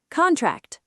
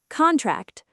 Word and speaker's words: contract: Object noun object verb object noun what's that object verb I object to this plan word four contract noun contract verb contract noun sign the contract verb the metal will